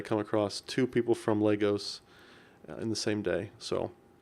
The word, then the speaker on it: Lagos: Wow real coincidence lol it's pronounced Legos and it has a